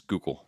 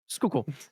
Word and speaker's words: Schuylkill: All right, I looked up how to pronounce this. Apparently it's skook skook not that's wrong. Um too many letters for that. Skookul.